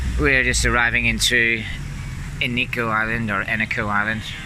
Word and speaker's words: Eneko: so we now know how to pronounce it's an eco the pronunciation right can't believe how many people are